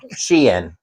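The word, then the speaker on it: Shein: Sheen. It's Sheen. It's Shien. It's not. It is not. If you listen to them pronounce it, it's Sheen.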